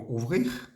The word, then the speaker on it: aussi: en este caso hay una palabra que es ui se escribe a u s s i ese ui